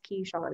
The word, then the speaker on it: Keisean: And I'm like, it's Keisean, it's two syllables, Keisean. Boom, just it's Sean, like Sean Connery, key, like a key that goes in a door.